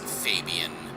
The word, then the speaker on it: Fabian: And correction, I do believe it is pronounced Fabian.